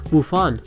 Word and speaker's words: Wufan: Well, you guys probably knew that, but did you guys know that in Mandarin, the reading of Gohan's name is pronounced Wufan, meaning lunch.